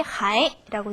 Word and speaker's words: 还: 이때는 발음이 还라고 됩니다.